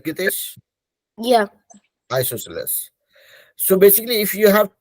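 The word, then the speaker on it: isosceles: called isos triangle isos that is how you pronounce it right GES yeah isoceles so basically if you have any triangle with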